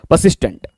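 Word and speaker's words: persistent: ठीक है चलिए next next word is परसिस्टेंट परसिस्टेंस आर को साइलेंट कर दीजिएगा परसिस्टेंट ग्रामेटिकल प्रोफाइल क्या है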